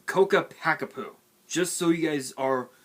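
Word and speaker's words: Ccapac Apu: it they pronounce it so weirdly they they pronounce it as capac a poo it's coca packapoo just so you guys are fully aware i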